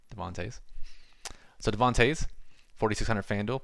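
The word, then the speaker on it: Devon Toews: index 7.1 and then a decent drop off Devin tase toes again I don't watch hockey should probably figured out how to pronounce this and I'll do that right now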